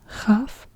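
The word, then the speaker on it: כף: And yeah, here we have the same situation, Kaf and Chaf. And again, it's the KH is more like in the Scottish word loch.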